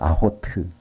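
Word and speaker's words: אחות: 그래서 아흐트인데 그 발음이 이렇게 연결되어 있고 아호트.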